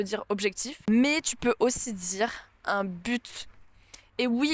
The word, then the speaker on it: but: objectif mais aussi dire un but et oui il y a un T à la fin et oui on le prononce et franchement j'ai pas